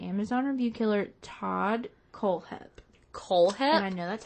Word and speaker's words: Kohlhepp: to discuss the Amazon review killer Todd kohlhepp Cole head I know that's how you pronounce it because I watched like five documentaries